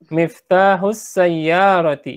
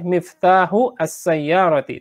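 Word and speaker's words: مفتاح السيارة: Miftahus sayyarati ya. Dibiasakan sekarang lebih baik ketika ada alif lamnya sudah mulai membiasakan membacanya disambung ya. Tadi juga boleh miftahu as-sayyarati, tapi nih sebagai latihan miftahus sayyarati.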